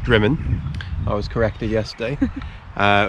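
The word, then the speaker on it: Drymen: left uh well it's spelt drymond but it's pronounced drummond i was corrected yesterday uh which is just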